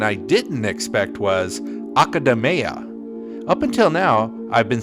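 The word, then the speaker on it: Akademeia: hashino the director of metaphor reantaso however a pronunciation I didn't expect was academa up until now I've been saying Mia but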